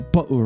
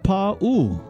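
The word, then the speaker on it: pāʻū: You know, when you did and you said pa'u rider, so many of us say pa'u rider, but actually it's pronounced pa'u. You stretch the pa and you stretch the u in pa'u rider.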